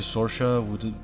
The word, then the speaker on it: Sorsha: Until I run into Sorsha, which is like the Irish name, like Saoirse, but this is spelled with an O.